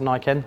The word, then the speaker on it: Niken: questions primarily why also how do you pronounce Nike n that's exactly how you pronounce it and I can